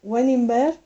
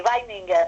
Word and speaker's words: Weininger: de un judío, la última noche de Oto Weningberg. No sé si lo he pronunciado bien, Ana. Sí, Weininger.